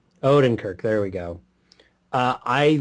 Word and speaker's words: Odenkirk: Owen how do you say that last name Odenkirk Odin Kirk there we go uh I loved him even